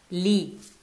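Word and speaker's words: לי: You put le and ani together, and that's what we have. Li. It have, it's like same thing, you remember, with the be and ha, they merge. And that's how they merge.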